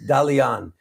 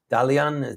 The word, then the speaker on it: Dalian: town in China seven million people holy smokes Dalian Dalian that's how you pronounce it but he is a uh he's